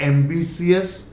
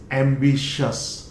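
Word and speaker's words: ambitious: So this I is dropped and इट is always pronounced as शस। Look at द एंड ऑफ इन हिंदी, हिंदी में देख लीजिए आप, मैंने यहां पे दिया है pronunciation. This is नॉट एम्बिशियस, इट इज एम्बिशियस, शस, शस, शस।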